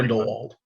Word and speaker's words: Grindelwald: I feel like Johnny Depp is better suited for Grindelwald, if I'm pronouncing that correctly. Grindelwald.